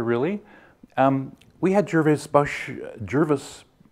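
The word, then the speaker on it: Gervase: um we had jervis jervis he says it rhymes with nervous so jervis bush come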